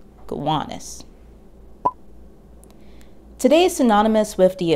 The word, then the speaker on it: Gowanus: the namesake it's pronounced gowanus with an emphasis on the middle syllable gowanus today is synonymous with